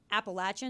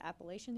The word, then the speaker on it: Appalachian: Big thing, Appalachian. That's how it's pronounced. I heard it Appalachian the other day.